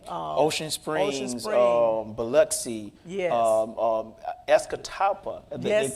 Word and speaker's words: Escatawpa: Escatawpa, they That's call it.